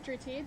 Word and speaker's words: Dhruti: School Dry Pak good afternoon my name is drti that is spelled dhruti last name cic p a t